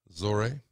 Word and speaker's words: Zohreh: of the lady who I thought was Zora zory that's how you pronounce it um I was threatened to take